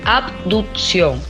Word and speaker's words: abducción: abducción con ver que la gente le dice abducción pero el término correcto es que uno pronuncia el ave en la en la lectura o sea abducción en la separación de